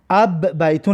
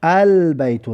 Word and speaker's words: البیت: اینجا در ببینید ال بی که در بیت هسته این را بی قمریه میگن، حرف قمریه. برای همین خاطر ما چکار کردیم؟ لام رو تلفظ کردیم، البیتو گفتیم. اب بیتو نمیگیمش، البیتو. لام لامی ب از حرفای قمری است.